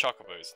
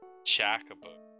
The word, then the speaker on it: Chocobos: It's Chocobos, not Chacobo. Oh, here's the basketball court.